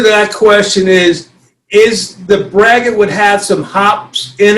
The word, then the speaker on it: braggot: Braggot.